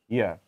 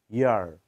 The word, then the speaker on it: year: আবার ইয়ার, ব্রিটিশরা বলে ইয়া, ব্রিটিশরা বলে ইয়া, আমেরিকানরা বলে ইয়ার। ব্রিটিশরা আর উচ্চারণ করে না, ইয়া বলে তারা, ইয়া। আমেরিকানরা বলে ইয়ার, ইয়ার।